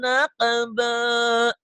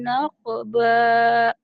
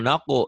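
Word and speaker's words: نَقْبًا: Famasta'u ayyadharuhu wa mastata'u lahu naqba. Iya, itu bisa. Jangan naku ya. Nak. Naqba. Nah, gitu. Jangan mulutnya jangan dimonyongin. Naqba.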